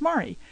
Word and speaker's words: Mari: pronunciation of my name I often get called Mary my name is Mari and a little about